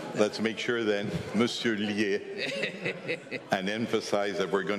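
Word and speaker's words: Liès: Yes, again, I insist as an insurer, never forget the accent, because being called Lies would be terrible. Yes, sir. Well, let's make sure then, Monsieur Lier, and emphasize that we're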